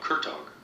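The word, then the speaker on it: Kurtág: You know, just to bring up a name, I saw one of the things you talked about, Kurtog.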